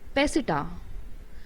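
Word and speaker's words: peseta: of spain and this currency is known as pesita it spells p e s e t a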